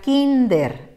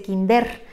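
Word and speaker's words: kínder: caso de la palabra kinder de dos sílabas esta palabra termine en r y con su pronunciación al natural nos llevaríamos la sorpresa de que dice kinder y como no queremos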